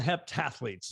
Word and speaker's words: heptathlete: Well, you are I guess they call them heptathletes.